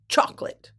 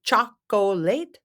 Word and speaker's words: chocolate: on this candy chocolate chocolate chocolate Americans we pronounce it chocolate it's a popular sweet treat given on Valentine's